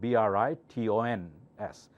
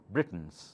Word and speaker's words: Britons: actors British people Britons these are called be rit ons Britons okay British sure is